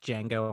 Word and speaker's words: Django: I always say it's like Django Unchained, just the D is silent.